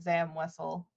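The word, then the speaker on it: Zam Wesell: No, but I've always said Zam Wessel.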